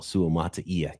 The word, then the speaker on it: Suamataia: The thing with Suamataia for me, and by the way, he nailed the pronunciation as well, Suamataia, Kingsley.